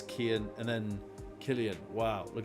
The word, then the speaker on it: Cian: Cian. That's Kian.